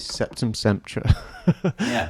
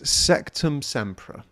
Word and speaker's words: Sectumsempra: I've seem to have remembered for years is septum SRA I've pronounced it wrong but whatever it's sectum sampra I've always said it wrong uh it's a